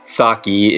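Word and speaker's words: Tsaki: Well, Mikus names the donkey, I'm going to say, Saki. It's spelled T-S-A-K-I.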